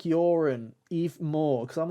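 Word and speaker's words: Joran: is this kid called Yorin. And if anything, it's more of a silent J, really, because we pronounce it as a Y.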